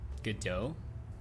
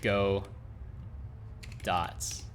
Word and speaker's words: Godot: Because I think when people see Godot, they think go dots, which is not right.